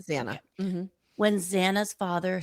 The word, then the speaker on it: Xana: When for me, it was when and it's pronounced, I want to make sure I say it correctly. It's Xana, correct? It's Xana? Yes, Xana.